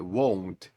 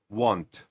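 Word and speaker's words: won't: Not буде часто звучати won won звертайте увагу на вимову won а не want і Зверніть увагу на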